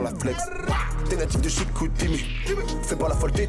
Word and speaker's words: Chicoutimi: On dit pas Chicoutimi, on dit Chicoutimi.